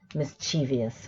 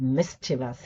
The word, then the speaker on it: mischievous: nuclear and groceries right you must have heard the pronunciation mischievious right actually this dictionary Oxford doesn't even acknowledge that pronunciation right so you only get mischievous II mischievous so it's not just words